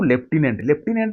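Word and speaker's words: lieutenant: कहते लेफ्टिनेंट governor से जो लेफ्टिनेंट रो ठीक स्पेलिंगटा कौटा आप कहे लेफ्टिनेंट बोली कहती तेणु ले एल आई इ यू टी इ एन ए एन टी लेफ्टिनेंट बुझे ना तेणु कौटा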